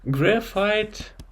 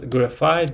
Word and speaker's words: graphite: Okay, so graphite is pronounced as graphite because it has this I-T-E in the end.